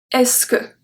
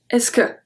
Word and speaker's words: est-ce que: French native speaker so how do you say it quickly fast speech simply we say ESCO ESCO ESCO okay so we don't say hey so good we sit ESCO ESCO so for the